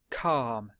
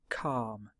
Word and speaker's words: calm: here the third line calm silent L calm and the last line